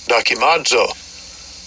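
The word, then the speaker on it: δοκιμάζω: I'll give you a pronunciation of it. Strongs G1381. Docimadzo.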